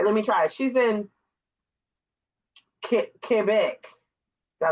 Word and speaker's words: Quebec: She's in Quebec. Did I say it Yeah, right? you said it Oh, right. okay. Because a lot of people Mm. say Quebec. It's Quebec.